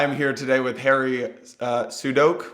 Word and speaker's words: Sudock: I am here today with Harry Sudock, which I've been Sudock. Damn it! I realized I've been pronouncing it wrong for 4 years. That was my attempt at fixing it, and I still botched it.